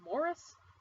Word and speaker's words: Maurice: modern book it was Maurice where apparently it's supposed to be pronounced Morris I'm against that Maurice by em Forrester this book was written in 1913 revised in 1930 published 1971.